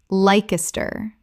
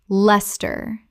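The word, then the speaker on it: Leicester: Edinburgh Edinburgh Word 104 Lester Common mispronunciation Lykester Correct pronunciation Lester Two syllables only. The ice disappears entirely.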